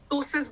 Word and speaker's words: ptosis: इसको हम इंग्लिश में टोसिस बोलते हैं। पेशेंट इस बीमारी को, टी साइलेंट होता है, PTOSIS, टोसिस।